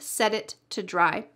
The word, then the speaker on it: set it to dry: Listen carefully when I say this and pay attention to all the T's in this phrase.